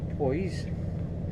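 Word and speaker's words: Powys: 19 I can pronounce. P-O-W-Y-S. Poise.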